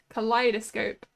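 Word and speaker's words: kaleidoscope: not it's just build collidoscope that's not hard to say I mean the the E and the I might confuse you but it's just collidoscope I guess it's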